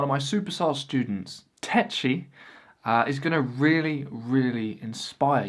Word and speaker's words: Takyi: nice to meet you tacky so apparently remember him saying that's really not how you pronounce my name man and he liked phonetically spelled out the correct pronunciation which is tetchy now he's a guy